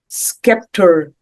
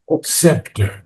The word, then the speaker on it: scepter: put her magic serpent skepter in no se scepter the c is not pronounced scepter Scepter put her magic serpent scepter in thoughts.